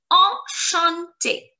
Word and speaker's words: enchanté: We say enchanté. Enchanté. Enchanté. The sound of the letters en is en. En. It's a nasal sound. En. En. En. The sound of the letters ch is sh, sh, sh.